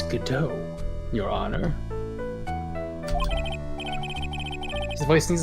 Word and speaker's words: Godot: It's pronounced waiting for God-ot.